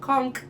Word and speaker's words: conch: and reference things and conch is one of them with a k i mean spelled with a ch but pronounced with the k all right like my